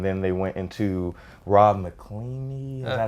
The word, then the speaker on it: McElhenney: But once they went from Watch Dogs Legion, and then they went into Rob McElhenney. Is that how you pronounce it?